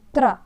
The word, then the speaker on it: त्र: बने हुए शब्द है त्र त और र जब हम बोलते हैं तो दो वर्णों का उच्चारण होता है त र ओके तो क्या लिखा पत्र पत्र